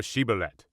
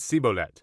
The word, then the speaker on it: Shibboleth: If he said, Nay, then said they unto him, Say now Shibboleth. And he said Sibolet, for he could not frame to pronounce it right.